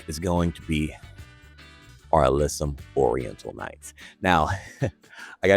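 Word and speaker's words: alyssum: And this flower is going to be our alysum oriental nights.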